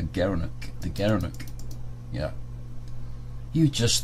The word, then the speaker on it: gerenuk: gara gara gara NOK he pronounced as a gerenuk the gerenuk yeah you